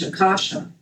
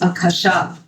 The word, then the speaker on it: akasha: You might have heard people pronounce it in English akasha. But, it's akasha. And akasha is the space.